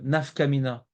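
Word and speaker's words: נפקא מינה: Et deuxième mission, c'est est-ce qu'il y a une nafkamina? Ne note pas ce mot, Chaim, nafkamina.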